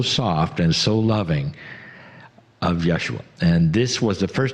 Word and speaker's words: Yeshua: And they said, Jesus is not really the way we say our name. The way I say my name. My name is Yeshua ben Joseph of Nazareth.